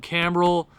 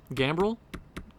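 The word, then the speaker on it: Gambrell: Louis Blues IRL I think he'll be a good little NHL player you have Dylan cameral gambrel what did I say why did I pronounce it with a C I have no idea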